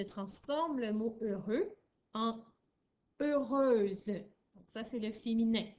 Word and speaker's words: heureuse: Toujours avec un H muet au début. E-U, R, E-U. Et mon X vient se transformer en S et j'ajoute un E. Ça fait heureuse.